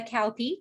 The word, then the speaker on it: Kauppi: Today, I am thrilled to introduce Kauppi. Did I pronounce it correctly?